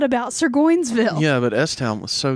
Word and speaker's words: Surgoinsville: No, it's Sir Joinsville. You just said that. It's Goin, like Sir Goinsville.